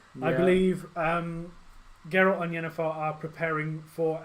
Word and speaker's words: Geralt: and that's with a hard G. Okay. Geralt. Okay, so when you say my name, it's Geralt, not Gerald.